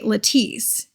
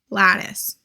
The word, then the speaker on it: Lattice: now let's go to now Bernat lattice not Leti I was so annoyed with myself editing that video and I pronounced it lattice or no see I want to say latis but the right pronunciation is lattice Bernette lattice I like